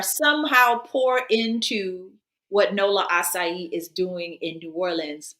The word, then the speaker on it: açaí: uh the pronunciation of acai you look at the little cesidelia that's why it's like an s as opposed to a pie like a lot of people say okay yeah let's bring